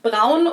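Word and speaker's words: Braun: Brown or brown with an American accent, which would have made sense because brown is the German word for the color brown. But when I did some research for this video, it turned out that Americans and British people too actually pronounced this brand. Brun, Brawn, Brun, Brun, something along those lines, which sounds really weird to my ears.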